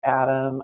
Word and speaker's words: AHDAM: And we do pronounce it as ADAM.